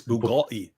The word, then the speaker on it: Bugatti: Where's your Bugatti boy? I don't know why I marked this comment. Love. They've already given you the correct pronunciation. It's Bugatti.